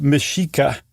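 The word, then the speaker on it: Mexica: And by the way also um the Aztecs were called the Mishika and that's that X is a sh e in that case.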